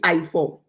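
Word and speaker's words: Ife: It's I for, it's really I for. Good. Because it's pronounced the I as an E in certain instances. So say E4, but it's really spelled I-F-E.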